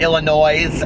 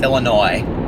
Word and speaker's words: Illinois: it's nollans just like it's not Illinois's with an S it's Illinois the S is silent people ask me what